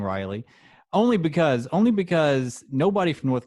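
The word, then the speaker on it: Raleigh: Apparently, I say it wrong, which I stick by saying Riley, only because nobody from North Carolina can take the high road on proper pronunciation.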